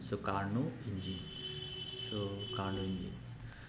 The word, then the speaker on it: Carnot: বললাম এই স্পেলিংয়ের মধ্যে টি আছে, বাট ওখানে pronounce it you make sure that T is silent here, so you have to pronounce it as Carnot, not T is silent, so Carnot engine.